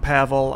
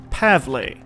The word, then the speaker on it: Pavle: Well, the night was calm, but it seems Pavel got a little sick last night while we were out. Speaking of Pavel, I've been told that I indeed have been pronouncing his name wrong.